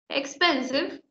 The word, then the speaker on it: expensive: Expensive tiene tres sílabas, ¿sí? Expensive. Porque la última E es muda, ¿sí?